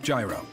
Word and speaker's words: gyro: For the record, is it gyro or gyro? Okay, so the real pronunciation of the gyro in Greece is yee-ro.